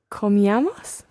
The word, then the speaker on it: comíamos: Comíamos? Aha, almost right. Just watch your stress here. The stress is on the I. So comíamos. Comíamos. Just like tomábamos.